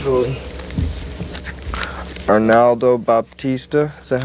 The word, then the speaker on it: Arnaldo Baptista: Arnaldo Baptista, is that how you pronounce his name?